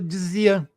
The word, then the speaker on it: Dzyan: O J, o nosso J, o YJ, lá no tibetano viraria um D e um Z. Então, Dzinana. Mas a pronúncia, Dzinana, acabou dando Dzian.